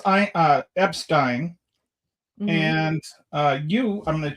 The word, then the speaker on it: Epstein: Now, you pronounce it the German way.